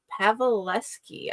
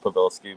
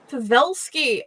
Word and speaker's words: Pavelsky: We get to talk to Pavalleski. I should have asked if I am pronouncing that right before the show. It's completely fun. It's so pronounced Pavvelski, but you got close to it. Pavvelski.